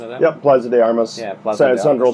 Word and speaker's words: Plaza de Armas: Is I think the pronunciation of that? Yep, Plaza de Armas.